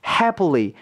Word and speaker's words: happily: 해리라고 읽습니다 해리라고 읽어요 근데 실제론 피라는 발음이 아니라 프 발음과 비슷하게요 발음이 됩니다 happily happily라고 발음이 된다는 거죠 그니까 요런 발음도 모음도